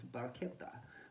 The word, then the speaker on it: barchetta: without any kind of roof the proper Italian pronunciation is Baretta with a K rather than the whatever that